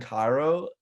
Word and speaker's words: Cairo: Cairo.